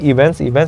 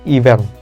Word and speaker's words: event: Enggak dong, tentu aja pasti ada events yang terjadi. Sekali lagi, event, bukan event. Oke, kalau event itu nggak ada T. Jadi ini merupakan salah satu kata yang paling sering di mispronounce sama orang Indonesia.